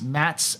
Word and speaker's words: Matze: So it's Mats, and just like it's spelled there, MATZE, Blue Eye.